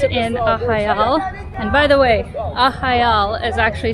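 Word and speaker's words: Arraial do Cabo: and by the way ahal is actually spelt a-r-r-a-i-a-l-docabo but the r's here are pronounced as h's so it's pronounced aha so yeah as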